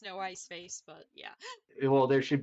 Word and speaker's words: no ice face: ice face I mean you could pronounce this noise yeah know I saw that as noise face and I was like technically it's no ice face but yeah well there